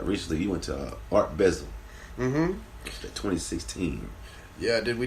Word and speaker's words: Basel: back from uh recently you went to Art bezel mhm 2016 yeah did we did Art basil Miami this year say it right basil basil art B you say we say however